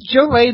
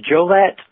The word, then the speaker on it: Jolet: doing just fantastic with Joel a the correct pronunciation I do this every time I swear well actually the present-day pronunciation is Joliet but it's funny that